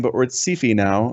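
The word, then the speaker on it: Syfy: Although part of it is they branded themselves Sephi. Yeah. Like literally they call themselves Sephi, which I think is the dumbest thing they've done. They they pronounce it as Sephi.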